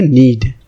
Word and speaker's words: knead: उसको आप बोलोगे नीड, ठीक है। क्या बोलोगे? नीड। इसकी स्पेलिंग है KNEAD, राइट। के साइलेंट है।